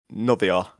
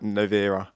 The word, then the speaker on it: Novera: We'll go Novia. Oh, I didn't say it right. Novera.